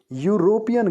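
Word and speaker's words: European: टेलिविज्ड एस यूरोपियन country अब यूरोपियन शब्द हलाकि से शुरू होता है बट इसका उच्चारण भी या से शुरू होता है ना कि किसी वलसाड कि it means dress यूरोपीयन country university यूरोपियन एक जैसा उच्चारण है यह तरह से दोनों की शब्दों की आवाज शब्दों का शुरुआत में यह की आवाज़ आती है इसीलिए इटली इज अ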